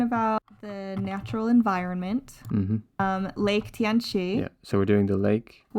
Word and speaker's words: Tianchi: Yeah, it's Chunji in Korean and Tianchi in Chinese. Tianchi.